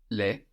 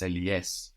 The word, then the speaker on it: les: Les lunettes. It's plural. Les, no? That's L-E-S. We can hear that S because the E has changed. Les, not le.